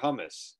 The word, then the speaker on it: hummus: Where can you find better hummus?